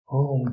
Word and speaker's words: ओम: ओम शब्द बना है अ, उ और म से।